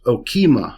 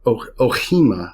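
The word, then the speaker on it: ὄχημα: The word used there is okima or ohima. You'll hear different pronunciations of it, but essentially okima, which means a chariot.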